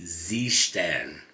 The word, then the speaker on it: Seestern: now which are the Zan as it's pronounced in German even though they're made